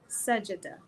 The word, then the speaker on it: Sajda: He said her name is pronounced Sajida. So he said Sajida.